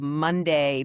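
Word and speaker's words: MondAI: they created a ritual called Monday, but it's spelled M O N D AI.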